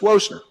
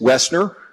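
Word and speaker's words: Wessner: Wesson ER for mispronouncing your name as whoa sir well and I'm I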